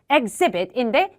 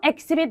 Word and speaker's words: exhibit: 얘도 exhibit인데 이거 the exhibit 말고 the exhibit 이렇게 읽어주시면 좋겠고 요거는 an exhibit 읽어주시면 되겠습니다.